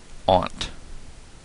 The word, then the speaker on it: aunt: of like mocking me Aunt that's just you know I guess I mean like it should rhyme with taunt really so you know what they're right it's Aunt I'm saying Aunt from now on tiama that's